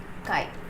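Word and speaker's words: χ: add it to the mole fraction hi this pronounced as chi in a kain or another can be defined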